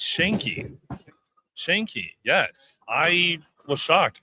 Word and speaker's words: Schenk: And And I'm glad he's here to help me pronounce uh his uh his co- guests last name. It's It's Shanki. Shanki. Yes. I was shocked because I thought it was Shanei based on the spelling, but it's Shanki.